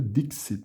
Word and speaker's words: dixit: O X tem um som de meio que um CS, né? X, Dixit.